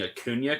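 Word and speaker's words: Acuña: compliment and jack on pronouncing a Cunha correct Oh jr. very proud of you decked the tilde I'm growing up I'm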